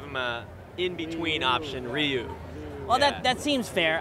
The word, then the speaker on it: Ryu: how it's properly said so it's one syllable it's not even reu it's more like you you oh okay so just